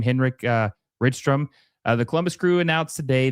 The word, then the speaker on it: Rydström: I think it's Rydström. I would assume that's how it's pronounced. A Swedish name, Henrik Rydström.